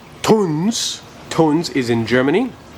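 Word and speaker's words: Tunze: So I'm going to go see, I've been calling it Tunzi my whole life. It's actually pronounced Tunz.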